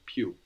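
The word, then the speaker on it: più: Italian is more late the word for more is PE p i u Pew PE PE so how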